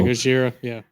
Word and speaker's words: Gojira: Is it Gojira, the drum solo? Yeah, Gojira, yeah.